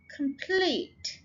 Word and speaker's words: complete: Complete, complete, ये देखिए pleat के ऊपर जोर है, so ये यहाँ पर pair पे स्ट्रेस है, यहाँ पे pleat पे स्ट्रेस है.